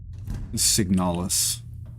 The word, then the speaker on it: Signalis: Signalis.